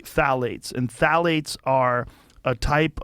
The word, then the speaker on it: phthalates: the introduction of phthalates it starts with a p p t h a l a t EES I think it's how you spell it you say phthalates and phthalates are a